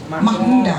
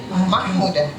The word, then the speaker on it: Mahmuda: Mahmuda. Yeah, spellingnya with H-I. MSc. Yes, but you don't pronounce the C. Yeah, Mahmuda.